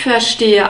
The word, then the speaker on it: verstehe: Verstehe. The V is pronounced like an F. You can see this in the phonetic script.